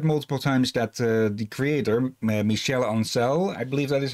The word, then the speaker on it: Michel Ancel: We've already said multiple times that the creator, Michel Ancel, I believe that is how it's supposed to be pronounced, the creator of Rayman, he was only